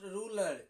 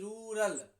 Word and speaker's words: rural: Your pronunciation of ruler. No, it is not ruler. It is rural.